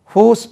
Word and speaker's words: whose: ஹூஸ் book is this, இந்த புத்தகம் யாருடையது? ஹூஸ் உச்சரிப்பு கவனிங்க, Z, ஹூஸ், ஹூஸ் இல்லை, ஹூஸ். ஹூஸ் book is this, திஸ்க்கும் this.